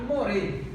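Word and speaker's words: מוֹרֶה: antigo, é tal que as letras são as mesmas, porém as pronúncias são diferentes. Morar e more. Morar significa professora, more significa professor. Como saber então que é morar ou more?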